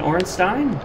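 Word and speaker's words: Ornstein: that is SM and orstein with the Leo ring the reason I pronounce it Stein guys as every other case of that s i n is pronounced Stein I believe it's German and origin all right guys we're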